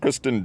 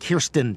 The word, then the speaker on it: Kirsten: He was in Spider-Man with Kristen Dunst. Kirsten Dunst.